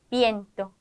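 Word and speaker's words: viento: 볼게요 자 그다음은 배입니다 배는 읍처럼 발음을 해 주시면 됩니다 그래서 바까 바까 베네수엘라 베네수엘라 비엔토 비엔토라고 읽어 주시면 되는 거예요 자 넘어가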